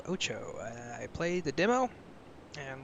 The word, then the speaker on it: OTXO: the mansion so yes that word is pronounced Ocho apparently had uh get that